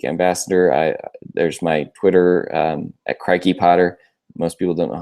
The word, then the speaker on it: Crikey Potter: There's my Twitter at Crikey Potter. Most people don't know how to pronounce it. It's Crikey, like the croc, Crikey Potter. At Crikey Potter.